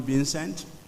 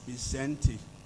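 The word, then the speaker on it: Vicente: sayings of bentti false most of us will call him Vincent but recar tells me that and I actually did ask him this morning the correct pronunciation of his first name it is bente Fox former president of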